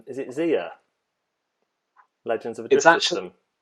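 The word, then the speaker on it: Xia: Oh, I don't think I've played this, but I think it's is it Zia? Legends of a Drift System. It's actually pronounced Zaya, so I got it right.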